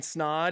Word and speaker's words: Snaadt: my name is snod at rhymes with OD it's kind of my